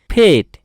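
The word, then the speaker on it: fate: এর শেষে যদি ই বসে, এফ এ টি ই, যদি ই বসে শেষে, তাহলে উচ্চারণ হয়ে যাবে ফেট।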